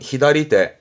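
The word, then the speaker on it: 左手: 발음은 히다리테, 히다리테.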